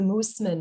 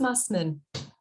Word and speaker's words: Mussman: okay there we go people like to make it fancy and go old german with the moosemen but it's just mussmen i i almost went